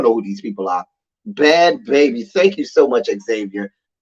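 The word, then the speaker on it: Bhad Bhabie: It's pronounced Bad Baby.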